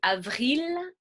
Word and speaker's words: avril: Et avril, je prononce le L.